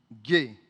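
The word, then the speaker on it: γῆ: Alors, le mot grec utilisé qui est traduit dans ces textes par terre, ça va vous paraître peut-être bizarre, ça s'écrit G-E et ça se lit gay.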